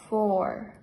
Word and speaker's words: four: En el caso del 4, 4, la U es muda. Se pronuncia 4.